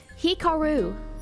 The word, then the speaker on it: Hikaru: Hikaru. Ah. Is that wrong? How was what I said wrong? Accent on the ka.